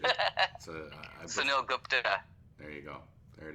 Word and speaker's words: Sunil Gupta: Sunil Gupta. Did I say that right? No. No? Not at all. I butchered it. Sunil Gupta.